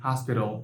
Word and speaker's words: hospital: in the word hospital T is before a syllabic L so it should be pronounced as a flap T hospital now let's take a